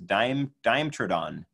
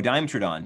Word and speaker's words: Dimetrodon: Helping me pronounce these dinosaur names. Some of them are pretty tricky. April says, Dimetrodon.